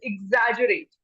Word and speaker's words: exaggerate: The pronunciation is exaggerate. Exaggerate.